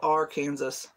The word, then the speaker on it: Arkansas: It's spelled Arkansas. Where did you get Arkansas out of that?